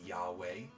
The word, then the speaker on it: Yahweh: in the original Hebrew, it is the four-letter word that's spelled Yod, He, Vav, He, that is often translated to be spoken as Yahweh.